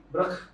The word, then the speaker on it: BRKH: Jadi Beras, pas dapat skrip, gue juga bingung bacanya berkah. berkah atau BRKH atau apa? Berarti sebutannya brek.